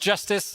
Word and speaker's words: Jstz: So it's written JSTZ pronounced justice and it's called justice